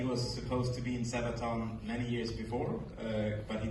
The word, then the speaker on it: Sabaton: Do I say that right, or is no, it's Sabaton pronounced Sabaton.